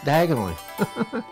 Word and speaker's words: Diagon Alley: really don't do yoga on Ali did this pronounce it different it's diagonally diagonally do you got Ali like I said